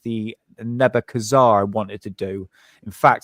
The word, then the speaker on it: Nebuchadnezzar: Babylon he wanted to rebuild Babylon like the neb Kazar wanted to do in fact Sadam thought he was the actual Reincarnation of nek Kazar his name I can't say his name Nebuchadnezzar Nebuchadnezzar yes thank you yeah so Saddam Hussein thought